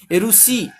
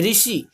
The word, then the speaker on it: ऋषि: हिंदी में रू का उच्चारण री होता है, री। ओके, हिंदी में हम ओडिया में जैसे बोलते हैं कि ऋषि, ऋतु, पर हिंदी में ऐसे नहीं होता है। हिंदी में क्या बोलते हैं, ऋषि और ऋतु।